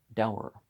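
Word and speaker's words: Davar: It was a piquant fact that this judge, Sir Dinshaw Dever, pronounced Dower, had been some years,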